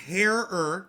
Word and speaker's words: Herer: Herer. It's pronounced Herer, okay?